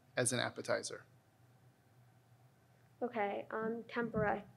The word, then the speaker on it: tempura: fried in deep fat tempura any alternate pronunciations tempera the word is from japanese tempura um tempura on anything